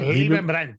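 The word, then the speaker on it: Leibbrandt: It's from the former Swift CEO, Gottfried Liebenbrandt. If I said it right? Liebenbrandt, yeah.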